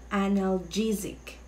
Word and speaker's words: analgesic: Or anong pag-pronounce nyo dyan? It's analgesic.